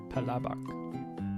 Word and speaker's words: palabok: Palabok. But the stress is on the second syllable.